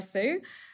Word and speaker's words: Hsu: My name is Hsu. Similar to Sara, my surname is actually pronounced very differently with an English accent. So yeah, Hsu, it's fine.